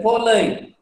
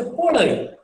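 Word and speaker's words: polhai: I have used the word H is because the pronunciation is L, polai. We don't say polai. We say polai, polai. You know, L, L, polai.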